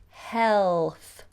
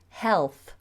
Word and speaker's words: health: word health health health what I tend to do with that word is cheat the L so rather than doing hell I do the L with the tongue out health health how is your health it makes it easier your pronunciation in French